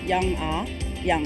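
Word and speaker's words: Young-A Yang: most common one and my name should be pronounced as young ah young I mean I know that's very close but it's just basically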